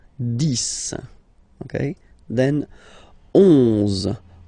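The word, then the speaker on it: dix: 10, okay, so remember final X here is pronounced like S, 10, 10, okay, then 11, 11,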